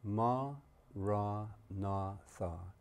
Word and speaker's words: maranatha: you choose that word say it as four syllables ma ra na listen to the word